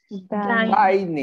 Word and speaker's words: dining: For pronunciation, when we have two N letters, we say dinner, dinner. But the other is dining, right? Dining, that's different.